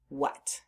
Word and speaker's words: what: What?